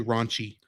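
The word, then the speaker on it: ランチ: Well, except the way the Japanese say it, there's another syllable at the end. Her name in Japan is actually Ronchi.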